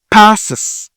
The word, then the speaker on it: passes: Et si c'est comme ça, on prononce ish. Crosses, crosses, crosses. C'est la même chose ici. Pass, pass, passes.